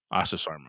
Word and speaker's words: Asha Sharma: I believe it's pronounced Asha. Last name is Sharma. Asha Sharma.